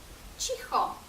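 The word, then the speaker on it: cicho: цурка донька це цурка але якщо Ми додамо літеру і то прочитаємо уже чі чі наприклад чіхо тихо чі чіхо так само з літерою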